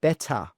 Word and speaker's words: better: Next one, better. Better. Better. Better. Your English is much better. It's easier to pronounce the D sound instead of really saying that T.